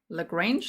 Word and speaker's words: LaGrange: LaGrange, like range. Thank you. I don't suck at life, Janice. All right. So LaGrange, let's say it like that.